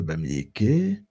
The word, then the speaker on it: Bamiléké: Le vocable bamiléké est dans le groupe ce qu'ils appellent le Pamilinké. Pamilemke. Traduction, le P est transformé par une prononciation en BA.